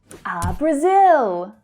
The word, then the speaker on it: Brazil: In English, we really hit the final O consonant sound there in Brazil. Brazil. So the unstressed schwa sound is heard in the first syllable.